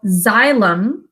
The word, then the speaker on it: xylem: tubes that are called xylem spelled with an x xylem carry water from